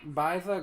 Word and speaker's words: Biza: uh well hey biza glad to see i pronounced that correctly he said you actually said my last name right danny so glad to